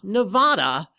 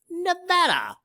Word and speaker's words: Nevada: three new properties in the silver state nevada not nevada as some people frustratingly mispronounce nevada uh boom we're down